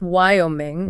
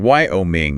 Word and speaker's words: Wyoming: finish strong Wyoming Wyoming that why Always throws me off it's unusual right it's pronounced Wyoming Wyoming wo me okay listener we did